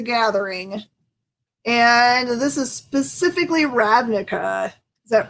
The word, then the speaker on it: Ravnica: of magic the gathering and this is specifically ravnica is that right how do i say it right it's ravnica is right magic universe it's been so long